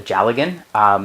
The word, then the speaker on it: dealgan: I decided to go down to Fleece and Harmony and buy, I'm going to butcher this, a Jalagan. It's spelled Dealgan, but it is Scottish Gaelic, and it is a Scottish spinning spindle.